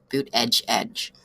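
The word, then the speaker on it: Buttigieg: judge booth ed judge if you want to know how to pronounce it read Petty's article it's in the title actually boot edge edge so he is a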